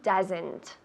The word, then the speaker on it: does: Como una U en inglés, no en español.